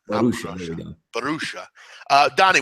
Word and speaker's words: Borussia: I just learned the pronunciation of Borussia, too, as opposed to other things I was saying it in. Borussia. Borussia.